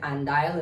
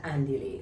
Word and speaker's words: Andile: think I've been saying andile and I've been saying Louise because that's what I've been hearing at first but now I know it's Lewis and andiley so I'm going to